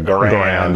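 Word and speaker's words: Garand: we go on cuz I know we're going to say Gan garan garan over gar is app apparently how how Mr gar pronounced it everybody I think 99% of the people I hear call it a grand so you'll excuse us if you're a name uh stickler for pronunciation or French Canadian probably right exactly exactly there's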